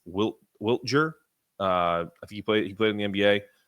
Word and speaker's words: Wiltjer: Kyle Whittler, and I always forget how to say his name. It's Wiltjer.